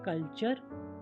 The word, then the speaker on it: culture: यहाँ पर आपने देखा कि S के बाद TION आया तो और T के बाद URE हो तो T का उच्चारण च हो रहा है, जैसे क्वेश्चन, कल्चर, नेचर, पिक्चर।